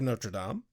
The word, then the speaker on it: Notre Dame: Cut to the college the next day, where Tara, Willow, and Buffy are walking and discussing The Hunchback of Notre Dame. Hey, you pronounced it correctly.